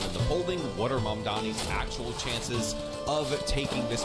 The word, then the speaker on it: Mamdani: Furthermore, the name is Mamdani.